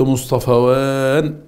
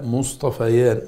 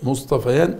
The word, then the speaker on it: مصطفيان: إن قلت مصطفوان غلط غلط غلط، لا مصطفيان، مصطفيان أرقيان، ده مبتدأ يبقى ثنى على الرفع، يبقى مصطفيان هما الأرقيان، صح.